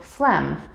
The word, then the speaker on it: phlegm: end of words g g is silent when we see it come before m or n in the same syllable for example phlegm gnome or foreign as